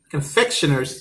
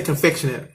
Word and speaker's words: confectioners: for table sugar confectioners confectioner's sugar i think that's how to say it i think i used to say confectionary but i think the word is confectioners confectioner's sugar oh my